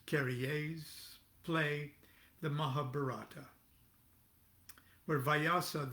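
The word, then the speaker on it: Carrière: scene of jean claude curries or is probably pronounced carriers play the mahabharata where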